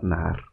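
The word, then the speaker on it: נהר: siguiente río para rí vamos a utilizar la palabra nar la dividimos en dos vocales Mejor dicho en dos sílabas na la primera la vamos a hacer con n una a lar ar haríamos con una e que es la número cco la cual es muda como la H de nosotros en español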